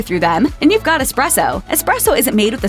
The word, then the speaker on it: espresso: There's no X in espresso. In English, we say express, but in the Italian version of the word, the X is an S.